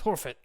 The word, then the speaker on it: Horfit: The name's Horfit." Hello, Horfet. Am I pronouncing that correctly? Horfet? You are. Horfit, yes.